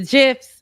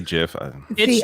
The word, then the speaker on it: GIF: kids are saying and now gifts people say Jeff yes yeah but they're wrong it's it's a g the Creator is wrong so yeah okay that's